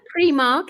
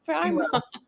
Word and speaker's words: Primark: Come on, Sharon. Premark, isn't it in Wales? I just said it. It's Premark. It's Primark. Jesus. It's an eye.